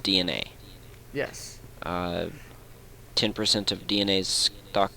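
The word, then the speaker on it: DeNA: That's D, lowercase e, capital N, capital A. Pronounced DNA.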